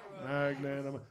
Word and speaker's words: magnanimous: Is that right? Magnanimous. That's four syllables, Johnny.